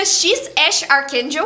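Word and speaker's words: X Æ A-12: Não dá para esquecer o nome do filho do Elon Musk que é X Ae a-1, mas que pronuncia X Ash Archakel.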